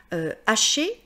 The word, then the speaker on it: hacher: Mais ça ne veut pas dire que le H, on doit le prononcer, ça veut dire que devant ce mot, je ne peux pas faire l'élision.